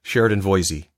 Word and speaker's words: Sheridan Voysey: Now I'm going to pronounce it right. Sheridan Voysey.